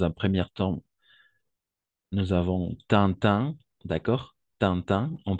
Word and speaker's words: Tintin: prononcer comme ça d'accord Tintin sinon Tintin on va utiliser on va prononcer à chaque fois la combinaison i avec N comme un d'accord par exemple intérêt